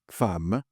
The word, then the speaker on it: femme: Un ejemplo, fam. Fam se escribe femm f e m u. ¿Por qué esa e ahí se escucha a cuando se de escuchar e abierta? Es una excepción.